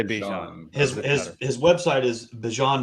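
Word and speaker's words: Bijan: him down and said, "Please tell us the correct pronunciation of your name." And he goes, "Bjon." Okay. So, it's Bjon Robinson. Okay. Well, I'm still gonna say Bjan.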